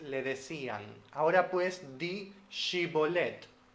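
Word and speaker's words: shibboleth: en jueces 12 6 tenemos a una persona diciéndole digi bolette pero la otra persona dice sibolette porque no puede pronunciarlas lain sino que lo hace como una s Sí aún en Latinoamérica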